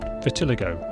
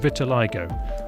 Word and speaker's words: vitiligo: explains in the last episode but it's not pronounced Vitiligo as I said last time but Vitiligo and thanks to Howard Hughes for correcting me